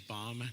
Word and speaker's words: Baum: that's spelled and last name is bomb b-a-u-m I'm here tonight speaking